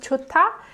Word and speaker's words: 좋다: So this one is pronounced 좋다, and this one is pronounced 좋아.